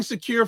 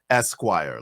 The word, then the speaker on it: Esquire: Vibe, the pronunciation is Esquire, like the magazine.